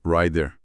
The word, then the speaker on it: rider: Mas se você usar rider, ou melhor, a pronúncia francesa rider.